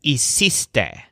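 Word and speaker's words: hiciste: made a big mess the word for you did is ec stay with the stressed syllable cease like cease and desist now what about the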